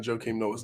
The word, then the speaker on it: Joakim Noah: I hate that you pronounce the A in Joakim Noah's name. Joakim Noah. Joakim Noah. You just did it because it rhymes.